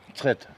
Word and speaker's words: Mtskheta: How do you pronounce the name of this town? Mtskheta.